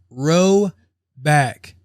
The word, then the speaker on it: Roback: it was a joke roback pronounced row back um you all know